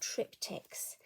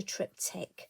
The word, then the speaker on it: triptych: one take on a trip tick and I'm sure there's probably other ways of pronouncing it but for me I'm going to say trip ticks I hope you bear